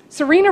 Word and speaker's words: Serena: doesn't have a nickname Serena rhymes with Purina and I am not